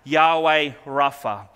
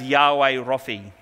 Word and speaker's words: Yahweh Rapha: And today we are going to be looking at Yahweh Rapha, which means the Lord who heals. This is sometimes pronounced as Yahweh Rophi.